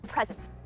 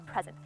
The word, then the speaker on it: present: So if I were to accentuate the first syllable, it would be present. And that is one meaning, right? I give you a present. Give me a present. Give him or her a present. If I accentuated the second syllable, it would be present. So it changes the word from a noun to a verb.